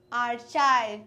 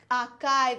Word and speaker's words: archive: cha it is C here we have written CH but it is not CH it is C AR arive and R is silent